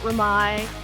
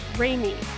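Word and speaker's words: Remai: kinds of different pronunciations the museum is not raai it is rainy like Jo R so we've been open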